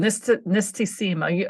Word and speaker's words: Nistisima: Called Nistisima. I had to have you help me to pronounce the word correctly.